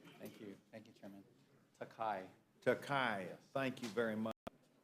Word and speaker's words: Takai: say your name thank you thank you chairman takai takai thank you very much Mr chairman we're